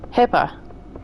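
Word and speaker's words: HIPAA: actually called health information uh-huh portability authorization act Hippa yeah how would you spell that abbreviation hi i p a a correct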